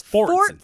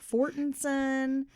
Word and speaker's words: Fortson: It's Fortson. It's Fortson. But I don't know why I'm struggling to say that. Every time I try to pronounce her name, I'm saying it like Fortinson, Forterson. It's Fortson.